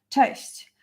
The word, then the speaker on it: cześć: You probably heard it like thousands of times, but it's always good to know how to pronounce it actually and how to write, like type it down. Cześć.